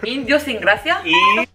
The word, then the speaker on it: idiosincrasia: Your word is idiosincrasia. What? You didn't even say that right. Idiosincrasia. Hold on. Idiosincrasia?